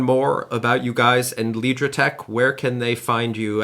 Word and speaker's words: Lidrotec: beginning of the accelerator, I will remember to pronounce it Lidrotec and not Lidrotec. It's just easier in English to say Lidrotec, but in German we actually say Lidrotec, so both work fine.